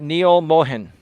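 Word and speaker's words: Neal Mohan: were not being targeted properly how do you pronounce the new CEO's name Neil Mohan he's an indian-american gentleman I believe he was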